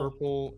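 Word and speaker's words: hirple: very different places so purple rhymes with a word called Purple h-i-r-p-l-e which means to walk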